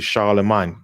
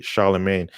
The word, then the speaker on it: Charlemagne: figure of charlemagne or it's actually charlemagne but i know americans say charlemagne is charlie mine is a fabrication with